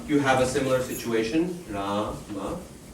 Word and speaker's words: Rama: The first syllable has a long vowel to it. Ra. Okay, so that's guru. This condition satisfied. The second syllable ma, it's not long, it's short. No double consonant afterwards. No or h. So it's laghu.